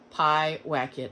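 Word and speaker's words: Pyewacket: up to see if i pronounced it will pronounce it right pi whack it i just looked it up before i made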